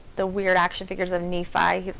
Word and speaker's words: Nephi: talked about Mormonism if they call it like Nephi instead of me fie and you're like we